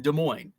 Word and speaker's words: Des Moines: des plaines des moines the s is silent in des moines we're weird with the